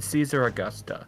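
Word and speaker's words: Caesaraugusta: I think you mean Caesar Augusta yes it's not a z sound it's a c aesar Caesar August I have found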